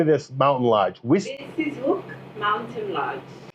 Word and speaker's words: Witsieshoek: Witsieshoek Mountain Lodge. Witsieshoek? It's a V. Witsieshoek. Yes, W pronounced as a V.